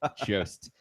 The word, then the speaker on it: Jost: that I saw about Jost. It rhymes with post, but I keep saying Jost because I like I think he's Swedish. Jost.